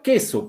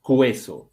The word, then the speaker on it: queso: La palabra queso, por ejemplo. Yo estoy pronunciando queso o cueso. No, queso descartado entonces. ¿Ya? No es cueso. O sea, no está pronunciándose la U. La U está siendo muda.